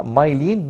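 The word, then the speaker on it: myelin: او يعني البرونسيشن بتاعها مايلين مش ميلامين، ناخد بالنا كويس قوي.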